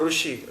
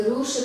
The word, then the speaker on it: Rishi: The word Russia comes from the word Rishi, great sages. Many sages used to live in Russia. И слово «Россия» произошло от слова «риши», потому что раньше, или «руши», как они произносят на юге, потому что раньше